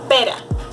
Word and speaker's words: pera: Caro, caro, pera. As you can see, the tip of my tongue just touches a little bit my teeth, so it is a soft movement.